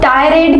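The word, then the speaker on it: tirade: अब टायरेड को आप प्रोनाउंस करेंगे टायरेड, तो टाय वर्ड आएगा माइंड में, ठीक है।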